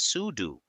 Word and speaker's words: sudo: We use pseudo pronounced as sudo because adding a software source changes system settings and normal users are not allowed to do this.